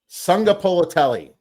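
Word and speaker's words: Sagapolutele: Sunga Polotelli. Sunga Polotelli. Yep, there you go. I got to practice that. Sunga Polotelli came out being the shining from I'm guessing Hawaii, right? It's Jaron Kiwi Sunga Polotelli.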